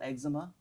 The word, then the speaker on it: Exuma: God, what a and they spell it stupid name. EXUMA. I know. So why wouldn't you say it eczema?